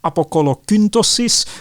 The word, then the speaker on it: Apocolocyntosis: And he will write this famous treatise, I will try to pronounce it in Latin, or the Greek title is Apokolokyntosis, which means the pumpification of Claudius, where he